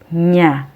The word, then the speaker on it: niya: Although spelled as siya, it is pronounced as siya, and niya is pronounced as nya.